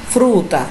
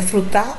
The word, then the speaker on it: fruta: Fruta, é frutar ou fruta? Fruta, paroxítona. Aqui eu chamo a atenção para a rainha.